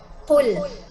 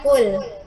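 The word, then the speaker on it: قُلْ: Ini pakai qaf. Maka cara membacanya adalah qul, qul, qul. Bukan kul, kul.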